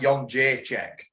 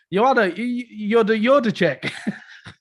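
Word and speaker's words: Jędrzejczyk: I said, is it not like Yon J check? Yeah. Well, and then Viper sent that video. What was it? It was like, Yoda check. Yeah, that's exactly how to pronounce it.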